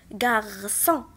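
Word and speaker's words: garçon: الكلمة الثانية عندنا سي سي دي، وكيف ما قلت لكم سي سي دي دائما كتنطق اس غارسون، دونك غنحطها في لا كولون دو غوش.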